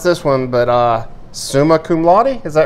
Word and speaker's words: summa cum laude: from Trident Technical College, and I'm going to mispronounce this one, but summa cum laude, is that right? That's right. Summa cum laude from Tech is planning to pursue a doctorate's degree in pharmacy.